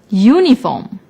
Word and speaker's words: uniform: the noun for example uniform although uniform starts with the vowel U it is not pronounced with the vowel sound so we use a